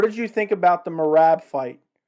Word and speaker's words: Merab: What did you think about the Merab fight? Or Merab, I think is how you pronounce it technically.